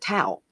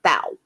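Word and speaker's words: Tou Thao: his name in court they said tau not thou okay so that the h must be silent like in the name thomas okay so who will stand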